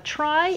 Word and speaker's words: trie: a try so a try is spelled t r i e and it's actually from retrieval but sadly it's still pronounced try just to confuse you